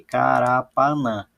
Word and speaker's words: Carapanã: Então, a palavra Carapanã tem 4 sílabas aqui, Carapanã. Dessas 4 sílabas, a mais forte, a sílaba tônica, é o nã.